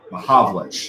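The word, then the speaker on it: Mahovlich: Mahavlich, that's how it's How about pronounced.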